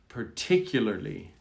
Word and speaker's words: particularly: Now we're going to move to the ly. It's a little bit different. Particularly. The struggle is at the end.